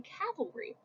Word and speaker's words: cavalry: Also, side note, frequently mispronounced word, cavalry is when people on horses are fighting you. Calvary is the hill on which Jesus was crucified. So, Calvary Baptist Church, cavalry charge.